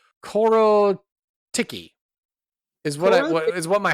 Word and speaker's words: Korotkiy: Nicholas cardarelli let's see it's spelled k r o t k i y which I want to say my heart sounds like it ought to be pronounced cororo Ticky is what is what